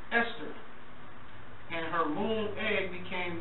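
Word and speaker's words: Ishtar: seeis became known as istar which is pronounced Esther and her Moon egg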